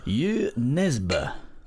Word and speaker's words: Jo Nesbø: to point out that Jo Nesbo's name is pronounced you neseber i mispronounced it for years - we're not